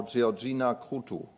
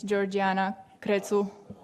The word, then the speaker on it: Georgiana Crețu: And now Georgina Krutu. Was the pronunciation correct? Almost. It's Georgiana Crețu, but close enough.